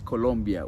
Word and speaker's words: Colombia: says uhen colia it's not colia sorry guys it's Colombia with o but is it in